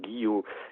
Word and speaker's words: Guillot: Mais d'autres disent, oui, Kyo, c'est parce que Wolfram, à l'allemande, il a prononcé Kyo, mais c'est Guillot. Et Guillot, il y en a un qu'on connaît, c'est Guillot de Provins.